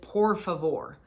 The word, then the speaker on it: por favor: to try saying again treat that r as a d said um please not por favor that's gonna be I